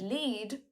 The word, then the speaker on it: lead: The word lead, when used as a verb, has the same E sound as in need.